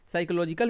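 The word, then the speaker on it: psychological: में साइलेंट होता है पी क्या होता है यहां पे साइलेंट होता है पी साइलेंट होता है आपको प्रोनंसिएशन में साइकोलॉजिकल ही पढ़ते हैं लेकिन लिखते समय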